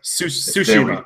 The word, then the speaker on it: Tsushima: Tsushima, but there's a silent T.